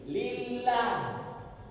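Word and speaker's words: لله: tak boleh lillah enggak baris bawah sebelum J lam jalalla itu bacanya tipis lillah indak lillah jangan Muhammad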